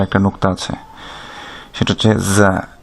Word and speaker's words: ز: এদের মাখরাজ বা উচ্চারণ স্থান হচ্ছে আপনার জিহ্বার আগা, সেটা সামনের নিচের দাঁতের গোড়া অথবা মাঝখানের সাথে লেগে উচ্চারিত হবে।